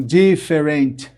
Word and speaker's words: different: A primeira sílaba é a forte. D. Nesse caso, a primeira vogal da segunda sílaba não é pronunciada, ó. Different. Algumas pessoas falam different, querem falar de qualquer jeito, mas não. Different.